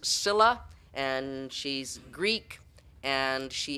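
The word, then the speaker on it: Scylla: mexico and we need is spelt skyla it's pronounced cilla and she's greek and she is a sea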